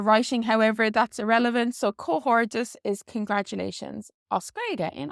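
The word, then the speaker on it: comhghairdeas: And then this is pronounced slightly different in the dialects. In Munster, they say cohordichus, so you might have heard cohordichus. And then this D in cohortus is often pronounced like a J or a G sound in connacht, so they'd say cohorgus. So cohorgus, cohortus, or cohordichus.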